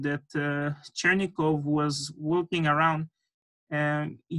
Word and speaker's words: Chernikov: pronouncing his name properly the name is chernikov and sometimes they say cheering but it's chernikov so in the game chernikov